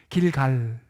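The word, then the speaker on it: גלגל: 이 사운드 한번 들어보세요. 길갈. 길갈. 예. 굴러갔다라는 뜻이에요. 발음에서도 그런 느낌 나죠?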